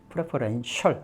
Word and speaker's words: preferential: preferential. 그래서 쉬 발음 기억나시죠? 쉬 발음에 이렇게 붙었으니까 어떻게 되죠? shall 정도 되겠죠? 예, shall. 그래서 preferential.